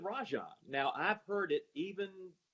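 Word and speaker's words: Rajon: for many years and you pronounce it Raja now I've heard it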